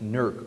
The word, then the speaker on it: Newark: and granville street railway and locals pronounce it Newark Ohio keep that in mind